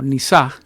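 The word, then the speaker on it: נִסָּה: La palabra prueba, que se pronuncia en el hebreo algo así como nisaj.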